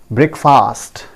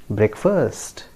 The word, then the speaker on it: breakfast: In this word also, we pronounce it breakfast, right friends? I know many of us pronounce it in that way, but that is not the correct pronunciation. Don't ever say breakfast, right? So the correct pronunciation is breakfast. Breakfast. There is no fast actually here in this word.